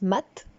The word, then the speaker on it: mat: veux parler du mat alors ça se prononce maths en tout cas dans l'ancien français c'était maths où le mât si